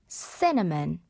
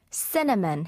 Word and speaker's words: cinnamon: Like, 우리가 시나몬, 계피 이렇게 많이 발음을 하는데요. 영어 발음은 리듬 탓이고요. cinnamon, cinnamon 해서 summer came like cinnamon.